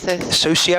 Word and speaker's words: Socio: it's quite a link dj s-o-c-i-o how are you pronouncing that then social as in sociopath uh anyway klang trust